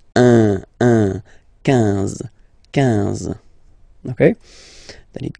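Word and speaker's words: onze: 10, 10, okay, then 11, 11, okay, so O plus N give you the sound on, 11, 11, okay, final E doesn't exist phonetically, 11, okay, 12, 12,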